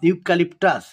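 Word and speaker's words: eucalyptus: এটা একটা গাছের নাম ইউকালিপটাস তাহলে এখানে হবে ইউ ইউ উচ্চারণ সেজন্য উই সট আন্ডার এ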